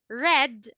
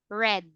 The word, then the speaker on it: read: Read, read, referring into the past. Okay? As in the color, red.